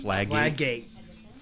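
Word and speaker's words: Fladgate: Flaggate.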